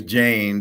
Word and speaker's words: Jenna: Actually, her name's Jane, but it's spelled Jenna.